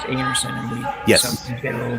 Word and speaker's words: Einarson: the air but I even car's last name pronounced anerson and we get a little guilty getting Laing